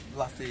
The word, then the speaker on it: lassi: So we're looking for Lassie. Yeah. Is that how you pronounce it? Lassie, yeah. Lassie.